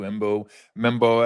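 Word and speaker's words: Armand Membou: Will Campbell out of LSU, Embo Mebo out of uh uh Missouri, if I'm pronouncing it correctly.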